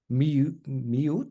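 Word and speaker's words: mjw: Miut or something, if I'm not mistaken. I think miut. Miu, no T, of course.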